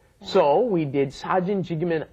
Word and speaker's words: 찍으면: Tough one, that double G, that double J pronunciation. 찍으면, 사진 찍으면 안 돼요.